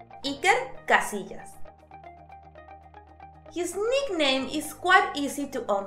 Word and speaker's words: Iker Casillas: And Casillas has a double L, which in Spanish sounds like a soft J. Iker Casillas.